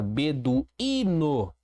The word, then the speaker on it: beduíno: Próxima palavra, beduíno. Beduíno. Beduíno. Percebi que eu tenho uma paroxítona, porque é a penúltima sílaba acentuada.